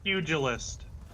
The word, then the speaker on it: pugilist: It's puglist. She's right. It's pugilist.